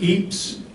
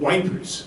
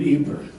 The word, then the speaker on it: Ypres: Now you'll hear the word Ypres, Ypres, or Ypres. The British called it wipers. They didn't know how to pronounce the proper French or Belgian word, so they would often call it wipers.